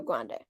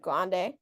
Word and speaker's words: Grande: is at the Rio Grande. I know it's Grand, but I've always said Grande. That's what I've heard, so I'm sorry.